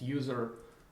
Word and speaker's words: usr: there and for homebrew the default prefix is usr or usually it's pronounced user local so mac uh so